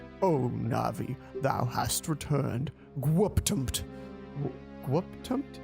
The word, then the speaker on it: GWPTMT: Gwuptumt. Gwuptumt? Yeah, that's how you pronounce it. Gwuptumt.